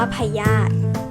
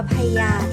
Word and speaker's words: พยาธิ: นี้ ค่ะ เด็ก ๆ เรา จะ อ่าน ว่า พยาธิ หรือ พยาธิ ลำ ไส้ แล้ว ก็ ไม่ ได้ ออก เสียง ว่า พญา ที่ ลำ ไส้ มัน